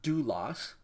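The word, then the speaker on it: δοῦλος: If you want to read it out with me, the words are pronounced, first one, graphe. Graphe. Second word is doulos.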